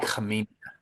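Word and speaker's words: Khamenia: It's uh I don't want to butcher his last name, but it's Nicholas Kina. It's actually I've learned this week the K is silent. It's Nick Kia.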